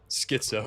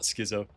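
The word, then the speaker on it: schizo: Skitso, not Skizo.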